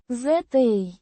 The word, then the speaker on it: За: Pronounced ZA. like the za in zap, but with a slightly softer a.